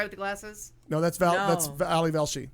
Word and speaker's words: Ali Velshi: No, that's Ali Velshi. Yeah, that's Ari Velshi. No, Ali. Well, I'm saying the right name wrong.